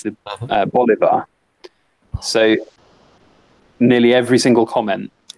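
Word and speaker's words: bolívar: do you know why because I pronounce I mispronounce the Venezuelan currency and it so it's it's not the Bolivia as I said in the entire village video it's the bali-ba so nearly every single comment well not every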